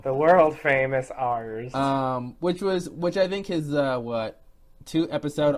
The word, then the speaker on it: Arzt: a new character in ARZT Arzt. Yeah. Don't mispronounce it because he'll correct you. The world famous ours.